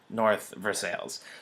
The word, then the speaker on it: North Versailles: If you pronounce things correctly, but in Pittsburgh we pronounce it North Versailles.